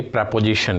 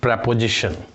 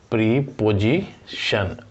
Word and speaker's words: preposition: जी हाँ, वर्ड मैंने कैसे प्रोनाउंस किया, प्रपोजिशन, PREPOSITION। हम अभी तक यही पढ़ते आ रहे थे, प्रीपोजिशन, लेकिन जब इसका साउंड आप चेक करेंगे तो ये सही साउंड आएगा, प्रपोजिशन।